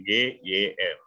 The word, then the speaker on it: gym: Tulisannya pakai G, Y, M, ya kan? Itu pakai Y ya, bacanya I, gym.